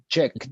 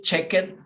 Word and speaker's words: checked: checked letter k right checked okay so in past tense we don't say check it we say checked repeat checked checked checked